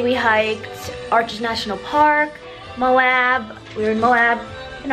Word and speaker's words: Moab: We are in Moab. That's apparently how you pronounce it.